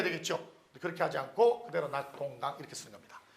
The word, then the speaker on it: 낙동강: 낙동강 써보세요.